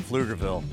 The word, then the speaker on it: Pflugerville: fun aflugerville oh yeah the p is silent that's right Pflugerville